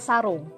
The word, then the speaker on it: sarung: Well, in Indonesia we call it sarung.